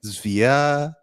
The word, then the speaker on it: Zvyagintsev: Zvyagintsev.